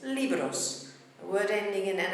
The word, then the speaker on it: libro: We've got the word for book, libro, ends in a vowel, beats on the E. It's not libro, it's libro. That's where we hear the rhythm. We add an S, it doesn't change, so it's libros.